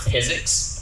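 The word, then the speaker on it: PyZX: It's pronounced physics, which is like trying to say physics, but you left the H out.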